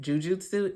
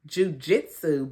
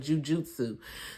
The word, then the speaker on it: Jujutsu: of fighting I guess called Jujutsu not J Jujitsu but Jujutsu so anyway he meets